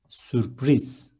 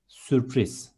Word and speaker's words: sürpriz: Next one, surprise is sürpriz. Instead of U, there is Ü, and it ends with Z, and it is sürpriz.